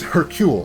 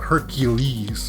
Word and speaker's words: Hercule: a young harris okay so that's not a it's hercule right it's not hercules like it's hercule right is that the way i'm pronouncing it uh i i know